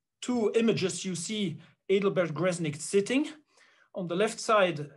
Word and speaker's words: Gresnigt: The right name is Adelbert Gresnigt. That is with a Dutch accent. Even though it's a German name, which is written in a Dutch way, so without a CH, with a G at the end.